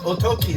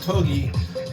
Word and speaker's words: okki: It's Oki, not Ogi. Oki is uh, what they're calling it here in the United States now. probably more like the correct um way to pronounce it.